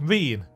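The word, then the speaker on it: Ryne: I've actually written down how to pronounce her name. Reen.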